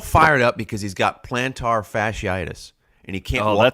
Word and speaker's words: plantar: Plantar fasciitis? Yeah, I know. I just added the tar.